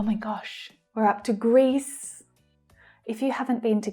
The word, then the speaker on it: Greece: So we have one long sound of the vowel sound here because there is just one syllable. Greece, E, Greece, Greece. The final S consonant sound.